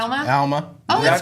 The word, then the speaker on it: Alma: it's- Alma. Oh, Is that that's pronounced cool.